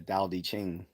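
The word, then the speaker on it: Tao Te Ching: about dosm called the Dow d Ching I think that's how you pronounce it because it's spelled with a t but from my recollection the t is pronounced more with a D sound pause so if I'm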